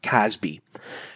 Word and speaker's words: CASB: cloud access security broker a casb otherwise just pronounced casby what is a casby